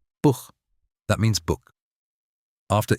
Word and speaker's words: Buch: After A, O, or U, it's a throat H, like clearing your throat softly. Buch, that means book.